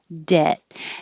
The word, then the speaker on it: debt: as in z loans debt has a silent b so just forget about it it's de i put e h to remind you that it's e like head debt so your jaw shouldn't open very much dead and you hold